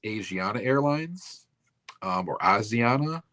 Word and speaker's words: Asiana: And then in 2013 um I don't know if it's pronounced Asiana Airlines um or Aana. It's as I a like Asia then NA.